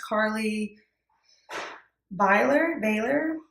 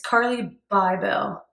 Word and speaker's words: Carly Bybel: Alright, I think I said her name wrong. It's Carly Bybel. Yeah. When it cursive, it kind of looks like an R right here, so I wasn't sure. It's Bybel.